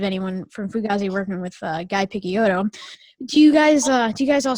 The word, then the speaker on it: Guy: Do you guys all still talk to Guy? And is there any chance of a Fugazi reunion? We all definitely stay in touch. We're either emailing or on the phone, and you pronounce his name Guy, and Guy is kind of the farthest away.